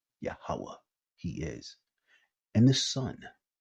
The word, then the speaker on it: Yahweh: In the Hebrew tongue, his name is pronounced Yahweh, he is.